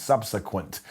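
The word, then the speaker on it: SBSQNT: a Developmental League called SBS qnt that we pronounce subsequent the war will only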